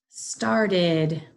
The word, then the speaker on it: started: Started. Started. Started. Has that id sound, even though it's spelled ed.